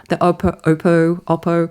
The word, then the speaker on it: Oppo: We've seen like other manufacturers like the N the Oppo Oppo Oppo, I say it like the Australian Oppo, Yeah, I buy.